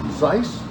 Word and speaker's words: Zeiss: Zeiss, I think it's the pronunciation. Zeiss.